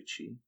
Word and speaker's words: Chi: So he has a Chi Mastery, or Key Mastery. You pronounce it how Key. you want. It's key. That's his tactics. That's his tactics card, right? Yeah. That's Oh, wait. yes. It's actually Chi.